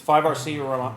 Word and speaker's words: 5RC: Because 5RC rhymes with by the sea.